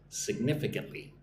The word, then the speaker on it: significantly: it increases their sales significantly. Look at the word significantly. It's a bit of a long word, right? Significantly. Again, five syllables. significantly. Put the emphasis on the second syllable. One, two, nif.